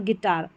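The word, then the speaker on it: guitar: चलिए नंबर 48 पर है जी यू इसको ग अक्सर यू यहां पर साइलेंट रहता है जी यू में। तो गेस्ट गेस्ट गाइड और गिटार।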